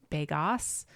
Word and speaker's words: Begos: I mean, it's spelled Beggos, so you would think Begos, but it's Begos, I think.